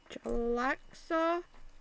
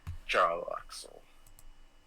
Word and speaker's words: Jarlaxle: Jalaxa? Oh. Jarlaxle. He goes by many disguises. Alaxor, how do you spell that?